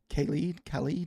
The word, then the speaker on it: Khalid: Khalid?